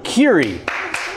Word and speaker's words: Keery: but certainly our guest today please welcome Joe Curie is that the correct pronunciation just tear it tear it yes it